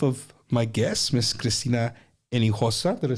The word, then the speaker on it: Hinojosa: Hinojosa.